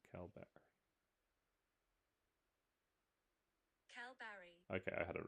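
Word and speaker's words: Kalbarri: Pronounce Calbarry. Calbarry. Okay, I had it right. Calbarry.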